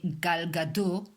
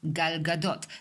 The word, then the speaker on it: Gal Gadot: For example, many Americans say Gal Gadot. She is not Gal Gadot, she is Gal Gadot.